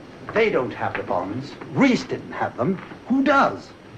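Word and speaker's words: Reis: R-E-I-S. Reese. In German, that is pronounced Rice.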